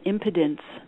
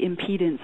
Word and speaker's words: impedance: it's a it's a contribution that causes an impedence uh I know men don't like that word but it's actually impedance I think am I pronouncing it wrong in